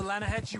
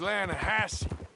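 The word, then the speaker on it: Lannahechee: the other day I rolled down to the Lana Hetchy river I caught some beautiful steelhead trout you maintenance it runs right near here yeah but it's pronounced Lana Hass why is everything in English said differently than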